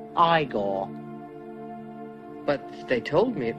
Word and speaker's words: Igor: it's frederick frankenstein i say you must be igor now it's pronounced igor but they told me it was igor well they were wrong then weren't they